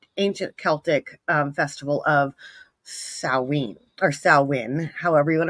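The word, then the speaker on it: Samhain: in the an ancient Celtic um Festival of saen or salwin however you want to pronounce it I say it Salen I don't know why but it is salwin it is one of the four fire festivals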